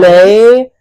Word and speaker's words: ley: How do you say it? Ley lines. Ley like lines. lay.